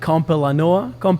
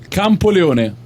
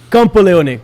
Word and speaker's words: Campoleone: know the name, like Campolano. How do you say it? Campoleone. Campoleone. Jesus, that was very far from the right thing.